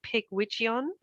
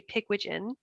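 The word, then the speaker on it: Pigwidgeon: it wrong for years i was kind of saying pig widgeon and i thought maybe it was welsh or something but it's not you say pigwigen and it just means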